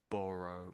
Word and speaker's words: burrow: So this top one, it's it's you can't really look at the letters and know how it's pronounced really. So I would say if I was to use the letters to guess how to spell it or another way of spelling it, it would be borrow. Borrow but ah. So it's more of an ah sound but a borrow. Borrow maybe something like that.